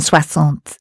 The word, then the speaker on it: soixante: The S sound is X in soixante, meaning 60.